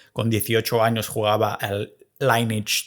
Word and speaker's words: Lineage: Yo no soy el tío que en el videojuego de turno, cuando con 18 años jugaba al Lineage 2, en español se pronuncia Lineaje 2, yo no soy el que se pillaba el humano.